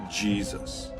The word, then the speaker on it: Jesus: around 1500 AD that the letter J took on the J sound we are familiar with today so yay Seuss came to be pronounced Jesus so the modern name